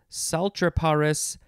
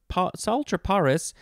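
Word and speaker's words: Psaltriparus: the salt the salter sultraparis is spelled p s a l t r i a did i say it correctly i think i did i think the p is silent sultry paris minimus uh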